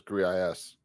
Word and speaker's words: Gris: And then some jabroni here wrote that Greece is pronounced Greece. All right, so it's definitively Greece according to you wrong. No, the developers said it was GRIS.